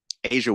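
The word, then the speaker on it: A'ja: Asia Wilson. But it's AJA. Asia Wilson. Yeah. So the J is a ja. Yeah. Is that like universal? I don't know. That's the only person named Asia that I know.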